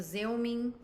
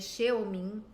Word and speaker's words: Xeomin: A gente tem o Xeomin, que na verdade se escreve Xeomin.